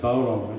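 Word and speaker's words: bodhrán: If anyone's thinking what this is what they call a bowron, spelled B-O-D-H-R-A-N, pronounced bowron.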